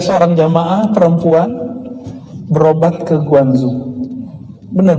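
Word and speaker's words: Guangzhou: nah kita ada seorang jemaah perempuan berobat ke guanzu benar bacanya guanzu Ya sampai di sana ketemu S mau diajarkan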